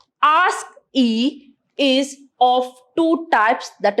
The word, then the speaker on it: ASCII: having ascii representation so the ascii code that is pronounced as ask e is of two types